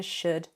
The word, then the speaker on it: should: verbs contain an L, the L is not pronounced. It is silent. So would literally sounds like wood, as in a forest, a tree, the material. And it's exactly the same for should and could. There's an ud sound.